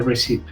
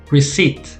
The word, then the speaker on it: receipt: off so you buy it and get a receipt receipt receipt so the notice the b and the i is silent so reseat receipt that's why there's a